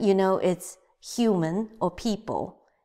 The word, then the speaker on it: 爱: 看人看人看人 The last one 人见人爱人见人爱 So 人 you know it's human or people 见 you know this is see Another people or human or person andThis character, you haven't learned it. So this pronounced as I.